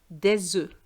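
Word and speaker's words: des œufs: we'll have to say desu and the s is going to be linked to the o and this is going to give you a z sound so let me repeat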